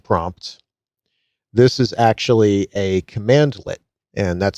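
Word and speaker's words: cmdlet: This is actually a command lit and that's spelled cmdle t command lit.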